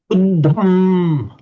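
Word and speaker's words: uddhaṃ: So then say Uddham. Back to you, Chinapui. Uddham. Uttam. Right. So here we've got a double D, but it's also aspirated.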